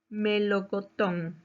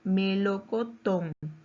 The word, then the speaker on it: melocotón: Melocotón. Su mayor fuerza de voz está en la última sílaba. Melocotón.